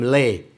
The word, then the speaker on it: Ray: Oh, Ray. Yeah. The Chinese pronounce his name Lei. Well, actually, American we pronounce it Ray. Ray. Yeah. The Chinese do not have the R sound.